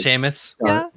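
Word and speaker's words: Seamus: say oh yeah although I did definitely messed up CMAs CMAs Sheamus yes famous yeah I remember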